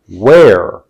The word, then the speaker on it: where: have highlighted in green the letter H highlighted in green what is it about the H that's significant well it's significant because first of all it's not pronounced it's silent but this is what makes the difference in the pronunciation of these two words while silent it influences the sound and the pronunciation of this word where now in order to